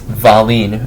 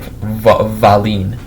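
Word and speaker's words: Wallin: and polishi at the the W that sounds like a V like valeen um originally the Stars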